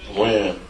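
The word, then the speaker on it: Wynn: Or Wen? Win.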